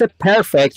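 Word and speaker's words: perfect: با هم پ بچهها استرس پرفکت روی پی پکت نمیگیم پکت استرسش اولشه بریم بعدی بچهها برای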